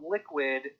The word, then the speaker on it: Liqwid: in the wing is called liquid binance so liquid uh it's spelled l-i-q-w-i-d they launched their road map and